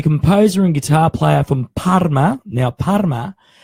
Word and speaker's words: Parma: Now, Parma, normally in Italian, you roll the R with a R like that. Mm-hmm. But in Parma, they've got a French influence. So they say Parma instead. And I hope I pronounced that correctly. They don't roll their R's. They don't roll the R's. They eat the R's like the French do.